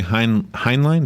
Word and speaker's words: Heinlein: Heinlein, is that how you say it? Robert Heinlein. Heinlein.